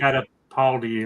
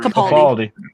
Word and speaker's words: Capaldi: with Baker and the I can always pronounce this. It's a holiday special, Peter right? Catapaldi or whatever. Capaldi.